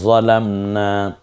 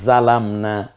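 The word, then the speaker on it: ظلمنا: রব্বানা যালামনা। দেখুন তো আপনি পারেন কিনা, একটু ট্রাই করুন। যেমন একটা পড়েন, রব্বানা যালামনা, এটা কোন এই জাটা আমি জাল দিয়ে উচ্চারণ করেছি। যদি বলি রব্বানা জালামনা, এটা কোনটা দিয়ে বলতে পারেন?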